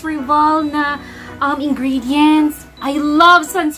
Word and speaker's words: Sans Rival: excitement first time okay I think oh sounds revolna um ingredients I love Suns revolved did I say it correctly Sans rival Sans rival okay they have this one and